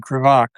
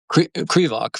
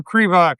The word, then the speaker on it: Krivak: And uh Andrew, I'm going to mispronounce it again. Kvach Crevoc first syllable. Cre. There you go. Andrew Crevok, the author, a book award finalist joins us now.